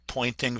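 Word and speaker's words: Poynting: It's actually the pointing vector. It's spelled differently, but it's pointing to the right.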